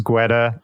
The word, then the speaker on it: Guetta: Guetta? I always say Guetta, but I don't, probably the correct pronunciation is Guetta.